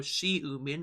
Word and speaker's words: Xiumin: his name correctly so we pronounce the X as an s in this case basically you know she mean okay so yeah I